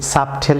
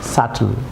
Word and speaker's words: subtle: Viewers যেমন SUBTLE, এটি সাবটেল হওয়ার কথা, বি সাইলেন্ট থাকবে, যেহেতু বিটি একসঙ্গে আছে এখানে বি সাইলেন্ট থাকবে। ভিউয়ার্স এটি হবে সাটল, আমার সাথে বলুন সাটল, সাটল।